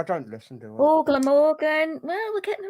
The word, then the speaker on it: Glamorgan: Well, the answer is Glamorgan. It's not Glamorgan. It's just Glamorgan. Don't be silly.